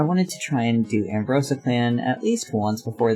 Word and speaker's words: Ambrosia: Clan honoring their observance I always forget that I've been technically saying the Clan's name wrong this entire time CU it's not really ambrosa it's like Ambrosia I think is how it's supposed to be said so let's see Finch